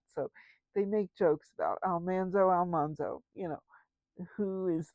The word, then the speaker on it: Almanzo: Dean Butler, who played Almanso Wilder. Yes, Almanso is the uh, proper pronunciation of Laura Engles Wilder's husband's name. Um, they discovered this after having made the first episode where they called him Almanzo.